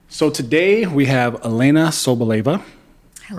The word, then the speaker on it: Elena Sobleva: So today we have Elena Sobleva, Hello.